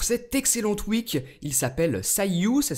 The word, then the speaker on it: Cyueue: voilà donc pour cet excellent twek il s'appelle Sayu ça s'écrit comme ceci et vous pouvez le retrouver